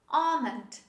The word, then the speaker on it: almond: type of fruit this is almond this is almond almond the last example talk talk chalk all